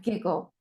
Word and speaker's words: giggle: These are pronounced as G, get, give, and giggle.